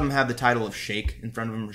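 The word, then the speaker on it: Shaikh: But he refers, a lot of them have the title of Sheikh in front of them, or Sheikh. It's pronounced S-H, or it's spelled S-H-A-I-K-H, so I pronounce it Sheikh.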